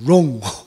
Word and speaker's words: Rong: 성이 RONG로 썼어요. 롱. 그 영어의 WRONG wrong하고 발음은 똑같아요.